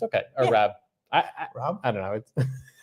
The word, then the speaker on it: Raab: We call it the Rob and Saab show because like people call Raab. It's like it's Rob like the car. I always have to say it's Rob like the Saab.